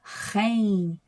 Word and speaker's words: geen: uso o rin tá a pronúncia rein R é quase o som de um carro ligando né Rem então o r